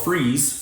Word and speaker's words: Fries: in a town called Freeze Virginia it's spelled fries but it's pronounced freeze well it's freeze in